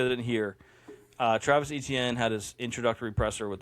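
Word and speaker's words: Etienne: So, those of you that didn't hear, uh, Travis ETN had his introductory presser with the Saints and he's revealed that apparently this whole time his last name has been pronounced Aane, which makes no sense.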